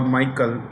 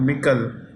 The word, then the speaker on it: Michel: of the European Council, Charles Michel, or some people call Michael. It's actually Michel.